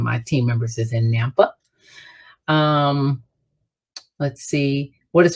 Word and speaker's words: Nampa: somebody right now who's in nampa is that the right way to pronounce that it is i kept thinking the lady was in napa as in california napa valley right it's a it's